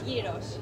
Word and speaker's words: Yeeros: Is it gyro, gyros? Yeeros. Yeeros? Yes. Yeeros, that's it, that's the one, right, I know now.